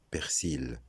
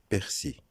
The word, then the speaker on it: persil: Deuxième mot, persil. Le persil, comme on le sait, est une plante aromatique utilisée en cuisine. C'est faux de dire persil. Le L final est muet. Donc la bonne prononciation, c'est persil.